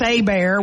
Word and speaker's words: Hebert: Hebert. It's not Hebert. Not Hebert. That's right. In Louisiana, it's Hebert. We just have some things that just are what they are.